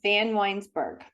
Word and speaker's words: Vanwynsberghe: Winsberger or Weinsberger? Winsberger? It's Vanwynsberghe. Oh, shoot. I was right. 3 syllables.